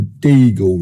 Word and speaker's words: Deagle: And that's something called the Deagle Report, spelled like Beagle, the dog, but with a D for Delta in front.